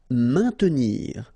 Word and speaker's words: maintenir: Maintenir. So remember, A, I, N together will produce the sound un. Maintenir. Don't insist on the E.